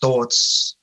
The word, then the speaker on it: Thorts: And it blew my mind because we just pronounced Thorts. ORTS words, the same as thoughts, where you say thoughts.